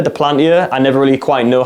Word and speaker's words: Duplantier: I really struggle to pronounce his surname, French name of course, Duplantier, Duplantier.